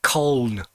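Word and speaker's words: Colne: nelson and corn and nobody else outside of corn can pronounce it black corn they call it cone i've got a meteor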